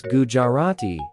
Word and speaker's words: Gujarati: Pronounce Gujarati as dirty. The stress is typically on the second syllable, jar.